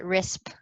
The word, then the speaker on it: RiSWP: of our is wp we we pronounce it risp if anyone was confused the w is silent um yeah so i